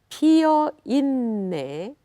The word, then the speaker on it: 피어 있네: Now, 피어 있네, it doubled N. So if you do not pronounce doubled N, then it will change the meaning of the word. So be sure to sing through that N sound, the S, just like Italian double N.